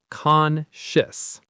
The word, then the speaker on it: Conscious: So the ending is a quick shis sound. Conscious.